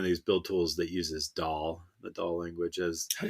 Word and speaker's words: Dhall: build tools that uses DAL, the DAL language as how do you spell that? DHALL. It's like the Indian dish.